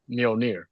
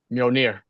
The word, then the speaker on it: Mjolnir: He's like, "Do you think Sam could pick up Mjolnir?"